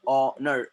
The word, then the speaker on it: honor: So in this scenario, my dear friends, in this scenario, you can see there H is silent.